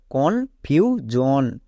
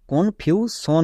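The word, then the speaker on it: confusion: কি হবে সন না জন জন তাই এর উচ্চারণটা কি হয়েছে কনফিউজন একে আমরা ভুল করেও কেউ কনফিউশন বলবো না অনেকে একে ভুল করে বলে কনফিউশন টেনশন কে বলে টেনশন বা টেনশন এখানে ভুল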